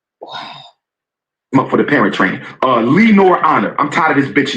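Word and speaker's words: Lenon Honor: Oh, that's how you pronounce his name. Let's shout him out again. Lee Nor. What did I call him? Lennon? I don't think he got his name right. He said Lee Nor Honor.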